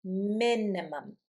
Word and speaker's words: minimum: Minimum. Minimum. I stress the first syllable. Minimum.